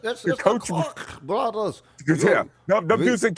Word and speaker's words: Koch: The Koch brothers, the Koch brothers. It's the Koch brothers.